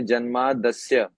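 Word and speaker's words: जन्माद्यस्य: और दूसरा जब हम इसको सात उच्चारण करेंगे तो इसको जैसे जन्मादि अस्य ये अलग-अलग बोल के उच्चारण किया है। तो जब अलग-अलग बोल के उच्चारण करेंगे तो इसको अलग-अलग बोलना चाहिए। जन्मादि अस्य लेकिन जब साथ में बोलेंगे तो इसको बोलेंगे जन्मादस्य।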